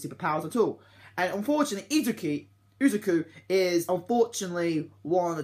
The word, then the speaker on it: Izuku: main male character called Izuki. I think I say his name. Izuku, how you say his name. It's called Izuku.